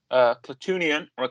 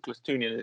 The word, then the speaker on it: Klatooinian: Klatooinian, I say Klatooinian, but Klatooinian is often the pronunciation of it.